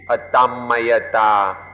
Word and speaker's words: Atammayata: a Tom mayor Tom and high pronunciation we be a dumb Maya da but the way it's written in English it would look like a Tom Maria Tom we ought to understand